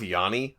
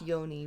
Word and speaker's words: yoni: steaming or Yami steaming really you're gonna go with Yanni okay pronounced yoni but okay whatever Yanni is